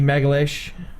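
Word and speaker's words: Magalhães: He knocked out Vinny Megalish.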